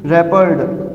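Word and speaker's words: wrapped: Their books have been रैपर्ड, डब्ल्यू जो है वो साइलेंट है, रैपर्ड बाय, और दे रिप्लेस किस में होता है स्टूडेंट्स?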